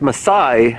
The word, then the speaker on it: Masai: right so it's present' pronounced Masai Masai like the tribe okay all right here